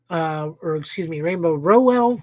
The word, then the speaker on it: Rainbow Rowell: Rainbow Rowell. I actually had to listen to an interview to get her name pronounced.